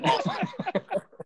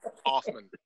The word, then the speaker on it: Hoffman: The H in Hoffman is silent, actually. So it's just Hoffman. That's how we just go with it. Hoffman.